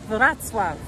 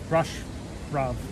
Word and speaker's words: Wrocław: But Julie will say it, but this is how it's spelled right here. Go ahead. Wrocław. Wrocław.